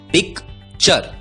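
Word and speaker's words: picture: यू आर ई दोस्तों याद रखिए टी यू आर ई का उच्चारण होता है चर टूरे नहीं उच्चारण होता है चर अब यदि टी यू आर ई का उच्चारण होता है चर तो पी आई सी टी यू आर ई का उच्चारण होगा पी आई C pick T यू आर ई चर उच्चारण होगा पिकचर पिक्चर पिक्चर का मतलब होता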